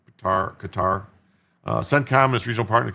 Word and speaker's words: Qatar: Uh, did Jim say guitar? No, Qatar. Gutter. I think it's it's either gutter or Qar. I don't know. I think they used to pronounce it gutter. Now it's Qatar.